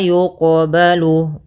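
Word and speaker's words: يُقْبَلُ: Ini qalqalah sugra yaitu kita membacanya tidak boleh ada sakta tidak boleh mantul. Maaf tidak boleh tidak mantul harus berarti harus mantul. Yang ketiga tidak boleh tambah hamzah. Maka wala yuqbalu wala yuqbalu.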